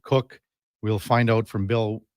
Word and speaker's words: Koch: Uh he pronounces it Cook.